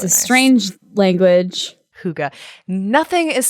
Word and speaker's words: hygge: It's the epitome of hygge.